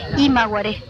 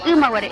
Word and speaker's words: Umaguaré: la gente, por ejemplo, dicen imaguaré. Dice a los conjuntos, ¿no es cierto? Lo de Umaguaré, y es Umaguaré, y por ejemplo dicen